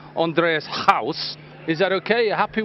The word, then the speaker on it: Andries Gous: So when I'm saying Andreas house, is that okay?